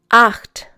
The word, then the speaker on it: acht: Acht. Once again, acht. Neun. Once again, neun. In this case, EU is pronounced like OI, for example, in oil in English.